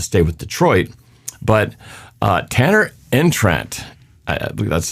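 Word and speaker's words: Tanner Engstrand: and decided to stay with Detroit but uh Tanner entrant that's how you say his name uh passing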